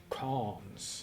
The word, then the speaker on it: Cans: But, so Cans would be the proper name to say it in English, I think. Hi, my name is Cans. That's Cans. how I say my name, Cans.